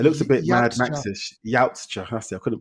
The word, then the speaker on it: Yautja: A yukta.